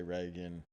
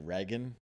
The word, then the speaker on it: Regan: So some people say Regan, some people say Reagan. I feel like a dick when I'm like, it's right. You know what I mean? Where if I'm, Yeah. I pronounce it Regan, but Yeah.